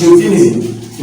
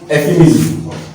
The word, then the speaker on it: euphemism: Okay, don't forget the word is pronounced as euphemism, not euphemism.